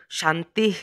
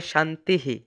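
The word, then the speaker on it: শান্তিঃ: বাক্যের শেষে এই শব্দটি থাকলে তবে তার উচ্চারণ শান্তি না হয়ে থাকে শান্তিহি।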